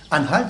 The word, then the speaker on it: Anhalt: Anhalt, ça s'écrit A-N-H-A-L-T.